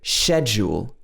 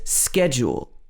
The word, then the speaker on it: schedule: we would pronounce it schedule schedule this is more like the native british english pronunciation the us pronunciation is schedule schedule however a lot